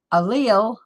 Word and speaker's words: allele: looked up excuse me a-l-l-e-l-e and we go here and it says how to say it right allele excuse me allele and